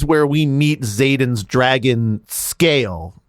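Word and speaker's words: Sgaeyl: time One More Time s s g a e y l scale scale scale yes yes scale so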